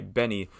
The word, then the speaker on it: BENEE: Next song I want to talk about is called Plain by Benny, whose pronunciation, after multiple instances of mispronunciation, I am finally getting right. And it's, I've tried it, Benny or Benet, whatever. It's Benny, Benee, Lily Allen, and Flo Milli.